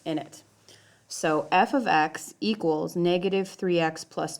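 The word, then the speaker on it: f(x): so what this means right here this is pronounced f of x and this does not actually mean I know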